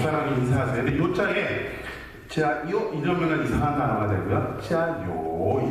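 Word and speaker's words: 加油: 중국말로는 짜요라고 인사를 합니다. 요자는 기름 요자고 지아는 더할 가자를 그렇게 발음합니다.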